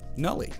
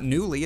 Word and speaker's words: nulli: Nulli. It's not newly, it's nulli.